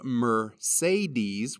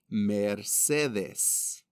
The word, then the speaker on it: Mercedes: in spanish never fluctuate so instead of mercedes where all three of the e's carry a different sound in spanish it is mercedes mercedes mercedes look at